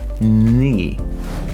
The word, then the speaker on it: knee: are reprogramming our brain knee is written with a k k and e but our brain needs to learn to remember the sound of n and not how it is being written on a piece of paper so door number two